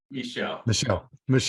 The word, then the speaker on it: Michel: my my Is It Michael or Michelle Michelle yep okay like the French pronunciation right yes nice okay